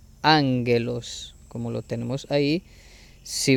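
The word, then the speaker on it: ἄγγελος: capa y la xi, cambia su sonido a ng, como en ángulo. Ejemplo, la palabra ángelos se pronuncia ángelos, como lo tenemos ahí.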